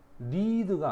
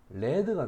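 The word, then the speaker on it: lead: 그다음 43번에 어른이 되었을 때 바로이 리드가 아니고 발음이 레드가 된다. 레드. 요거는 납이 됩니다.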